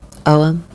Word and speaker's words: Ogham: Ogham, pronounced Ogham, is the earliest form of known writing in the Irish language.